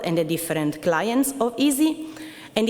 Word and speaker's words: EESSI: It's pronounced easy and it's a European environment for scientific software installation.